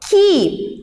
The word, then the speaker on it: key: Key, que é a palavra chave, o E e o Y a gente pronuncia com som de I, então fica key.